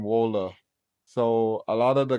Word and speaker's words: Waale: yeah so like I a lot of people think my name is pronounced Tim well but it's actually pronounced Tim Waller so a lot of